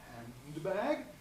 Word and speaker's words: handbag: Think about handbag. Here we have ND at the end of the first syllable, consonant of B at the beginning of the next. So that D is likely to drop, a handbag.